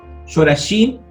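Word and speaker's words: שָׁרָשִׁים: Y la segunda regla nos dice que siempre es O en estas tres palabras, Kol, Shorashim y Kodashim. Siempre es O, nunca es A.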